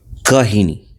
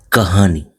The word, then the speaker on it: কাহিনী: Kahini. The name of the poetry is Kahini. If we pronounce it in Hindi, it will be sound like Kahani.